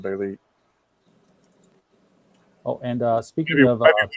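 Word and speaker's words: Bêlit: Farnsworth Wright, the editor of Weird Tales, put a circumflex over the I. So I'm not all that conversant with it, but I think that makes the pronunciation Belit.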